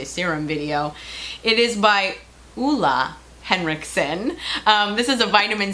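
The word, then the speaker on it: Ole Henriksen: It is by Oola Henrikson.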